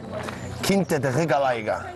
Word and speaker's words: Quinta da Regaleira: Quinta da Regaleira. Well pronounced, by the way.